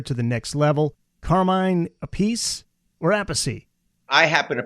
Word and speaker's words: Appice: Carmine Appice or Appice? I happen to pronounce his last name, depending on who you talk to, they Yeah.